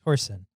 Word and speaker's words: Torsen: Torsion or torsion? It's spelled Torsen. Torsen.